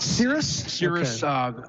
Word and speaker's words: Cirrus: else do you know how to pronounce that Cirrus is it serious yes is what I'm